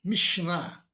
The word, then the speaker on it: Mishnah: A pronúncia Kabbalah, com a última sílaba tônica, vem da sua origem hebraica, que também tem o acento tônico na última sílaba. Assim também Mishnah, Gemara.